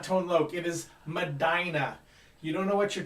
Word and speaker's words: Medina: thing for numbers but it's not funky called medina this is not tone loke it is madinah you don't know what you're talking about learn your geography at least say it right ma daina say it with me manny madina iraq iraq